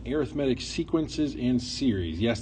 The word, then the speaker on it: arithmetic: Chapter 12, Section 1, Arithmetic Sequences and Series. Yes, that looks like arithmetic, but it is pronounced arithmetic.